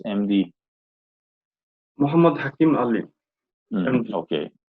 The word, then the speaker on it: Muhammad Hakim Ali: Hakim, how to pronounce MD? Muhammad Hakim Ali. MD. Okay, Muhammad Hakim Ali.